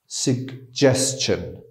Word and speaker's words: suggestion: ولی اینجا یک نکته دیگه هم داریم، هم صدای ج و هم صدای گ، suggestion.